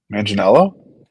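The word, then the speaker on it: Manganiello: I do like um Joe forgot to pronounce his last name Jo H Joe Deo manginello manginello yes I don't know why I started with a d for some reason I do like Joe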